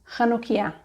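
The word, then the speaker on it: חנוכייה: But if you want to pronounce these words properly as they are in Hebrew, you need to use the letter chet, making a ch sound. So it's just chala, chanukia, Chanukah.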